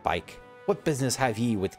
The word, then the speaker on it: Bikke: will address Mia's bike some pronounce it BK but I pronounce it bike what business have ye